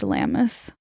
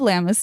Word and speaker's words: Lughnasadh: This date fell on the eve of, I think it's pronounced Lammas, but it is spelled Lughnasadh.